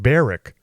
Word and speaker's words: Berwick: You don't pronounce the W in berwick. It's pronounced beric.